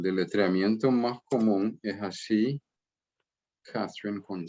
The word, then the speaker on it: Catherine: Sí, la mayoría de los trinitarios van a decir Catherine. Catherine. Pero no es o sea, ¿cómo te digo? Es más popular esa forma de pronunciarlo. La forma más correcta sería Catherine.